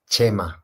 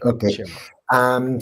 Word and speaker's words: Chema: that you know, guys, it's pronounced Chema, because I'm from Spain. Yeah, I'm from Spain, and the CH is pronounced Che, no? Like Che Guevara, no? It's like the same, yeah. Chema. Okay. Chema.